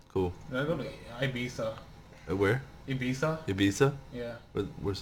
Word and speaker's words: Ibiza: Did I go to Ibiza? Where? Ibiza? Ibiza? Yeah. Where's that? Ibiza. It's like Why are you No, saying it's pronounced Ibiza. Okay, fine, Ibiza. Or Ibiza. Ibiza.